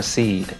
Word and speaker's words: Sidhe: But the second part of it is S-I-D? H-E. Is that Sidhe or Seed?